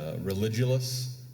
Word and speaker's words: Religulous: How do you pronounce that one? We're talking top level stuff here, but Religulous.